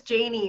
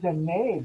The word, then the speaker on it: Janie: you got that it's Janie, right? Oh, is that you pronounce it Janie? Yeah. I'm sorry, I've been saying Janae this whole time.